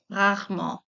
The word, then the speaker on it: rarement: Next is rarement. Rarement. That's a bit tricky to speak because we have the R sound. Rarement. You can use like three syllables. Rarement, or you can use like rarement.